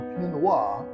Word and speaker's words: Pinot Noir: talk about all things P Noir or P NOA as the French say yes we're going to